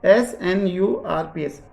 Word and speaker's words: snRNP: और जो ये SNRNP है बेटा इसका प्रोनाउंस होता है एक्चुअली में, तब इंग्लिश में बोलते हैं तो एक साथ बोलने पर इसको ये संरप्स की साउंड या प्रोनाउंसिएशन देता है, संरप्स, SNURPS, संरप्स बोला जाता है, ठीक है।